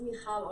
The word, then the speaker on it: Michal: So my name is Michal, and it's not many people can say Michal, so thank you for pronouncing my name so well.